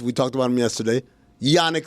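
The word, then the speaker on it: Jannik: Number 1 is, we talked about him yesterday, Yannick Sinner, even though it's spelled with a J. We all say Yannick Sinner, right?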